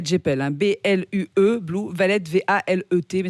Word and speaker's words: Valet: Alors Blue Valet, j'appelle, hein, B-L-U-E, Blue Valet, V-A-L-E-T, mais ça se prononce Valet à l'anglaise.